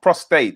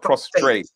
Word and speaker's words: prostate: prostate cancer prostate cancer i keep saying prostrate is pos prostate cancer and yeah yeah right because i don't say it correctly so you're not what i said seriously yeah it's prostate not prostrate yeah but you know